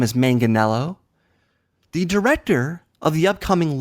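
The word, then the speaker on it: Manganiello: a similar name as manganello the Director of the upcoming Logan James Mangold m n it's not Mangold it's not manganelo it's manganello and mangled James mangled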